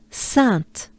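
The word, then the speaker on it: Sainte: of sun is sat so basically the only difference is you pronounce a t sound sant sat sant sant all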